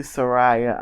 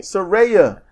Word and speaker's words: Saraya: each other's backs namely Soraya I'm like Saraya okay Saraya you you get mad